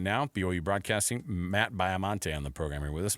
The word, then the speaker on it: Baiamonte: Joining us on the program right now, BYU broadcasting, Matt Biamonte on the program with us. Matt, am I pronouncing that last name right?